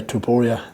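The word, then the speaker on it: Topuria: that stood up was taporia and elia elia tuporia that's how you pronounce it um yeah no one else will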